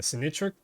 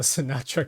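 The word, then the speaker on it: Sinytra: butcher the name, the Sinitra Sinitra Sinitra. I used to call it the Sinatra connector like Frank Sinatra.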